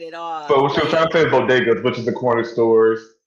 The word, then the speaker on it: bodegas: a bad speech yeah i'm like she didn't pronounce bodegas right at all bodegas which is the corner stores in new york